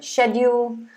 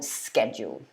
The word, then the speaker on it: schedule: say etcetera but yeah you can say either schedule or schedule okay skye said interesting then